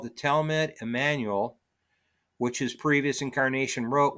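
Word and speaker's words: Jmmanuel: And Emmanuel is not spelled with an E, it's spelled with a silent J at the beginning.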